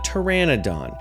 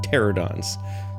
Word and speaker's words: pteranodon: later identified as a pteranodon. And yes, I mispronounced that almost every other time that I've done this in the past. I was confusing pteranodons with pterosaurs and calling them pterodons.